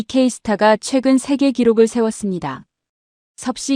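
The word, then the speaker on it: KSTAR: K스타라고 읽습니다. 한국이 만든 인공태양 장치입니다. 이 K스타가 최근 세계 기록을 세웠습니다.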